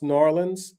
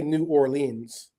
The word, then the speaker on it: New Orleans: I mean, the way you pronounce New Orleans is you don't say New Orleans. It's New Orleans, like as if the word is N''ORLEANS. That's how they pronounce it down there.